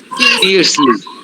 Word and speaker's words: fiercely: হ্যাঁ, এটা কি ফায়ারসলি না ফিয়ার্সলি, কোনটা হবে বলো, Fiercely ফিয়ার্সলি through the town.